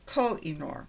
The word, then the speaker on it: Koh-i-Noor: said that I really didn't know how you pronounce the name of pencils that Koh-i-Noor. It's Koh-i-Noor.